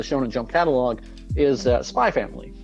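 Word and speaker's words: Spy × Family: and jump catalog is spy family yes or spy X family if you decide to pronounce it wrong to be fair to be fair when Japan had decided that using the English letter X was silent in their manga titles I don't think the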